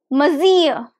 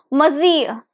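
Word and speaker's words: monsieur: sir in French and it is pronounced as mazier only two syllables mazia the stress is on the second syllable so it's muzzy excellent excellent you sounded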